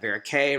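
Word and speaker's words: Verocay: When you find Verrier bodies, they're going to be in the Antony A area. You can remember that Verrier rhymes with A.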